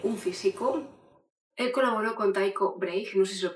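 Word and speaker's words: Tycho Brahe: Su nombre se pronuncia realmente Ticobraje. Ticobraje.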